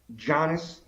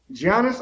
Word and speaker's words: Giannis: Giannis, I can't. Quit saying it with a G. Say it with a Y.